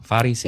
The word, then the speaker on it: Pharisees: Iya, Pharisees. Iya. Itu bacanya Pharisees.